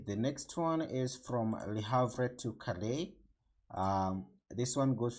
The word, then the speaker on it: Le Havre: The next stop is Le Havre. So it's Le Havre. That's the correct pronunciation, it seems.